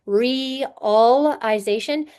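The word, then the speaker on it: realization: first together in just reallization they are not a vowel team. Each of those vowels makes a separate sound. The I says E and the A and A L says uh which is awah.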